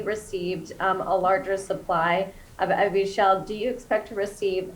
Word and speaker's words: Evusheld: And then just really, really quickly, I've heard this therapeutic pronounced different in different ways throughout this conference, and I want to confirm it's Evusheld. Is that right? Thank you. You picked up on Yeah. You're exactly right.